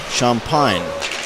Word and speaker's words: Champagne: gold keeper Ian champine his last name spelled like he would spell champagne c-a-c-h-a-m-p-a-g-n-e and that's um it's a a Louisiana pronunciation champagne Here Comes Hanson he's